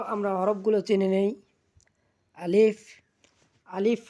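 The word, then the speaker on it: ا: আলিফ, আলিফ হরফটি আমরা হালকা করে উচ্চারণ করব।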